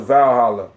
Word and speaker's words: Walhalla: That's you pronounce it Valhalla. You motherfucker. How you say it? Valhalla. It's the heaven of. It starts with a W. I know, but it's pronounced that. I mean, that's why they. You know what I'm saying? W is actually the U, W, and the V at one point in time were basically like this.